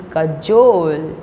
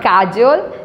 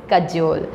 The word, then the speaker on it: cajole: word I have is Kajol Kajol not casual it's Kajol very easy to remember